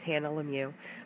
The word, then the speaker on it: Lemieux: So if you are new to my channel, my name is Hannah Lemieux. My last name is French. It's pronounced without, there's an X there, but it's silent.